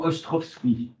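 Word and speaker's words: Ostrowski: D et son nom Ostrovski S c'est un W ça se prononce finalement comme ça ça s'écrit comme ça se prononce mis à part le W et Ostrovski part d'une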